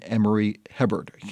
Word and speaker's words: Emory Hebert: an effective and unexpected mentor in conservative Republican Emory Hebert. Am I pronouncing that correctly?